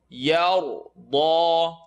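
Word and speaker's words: يرضى: Yar, yar, yar, da, yar, da, yar. And I'm moving my lips. It's not necessary to move your lips, but you can't really see yar, da, because that's my tongue making the sound. So I'm moving my lips slightly. You don't really need to move them for ra.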